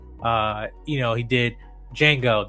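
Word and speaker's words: Django: you know he did Jango the D is silent right he did uh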